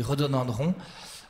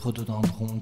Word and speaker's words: rhododendron: Alors, là, j'ai un problème d'orthographe, donc Monsieur Benjamin Denis, ce n'est pas comme ça qu'on orthographie rhododendron. Alors, rhododendron s'écrit avec une lettre qui ne se prononce pas.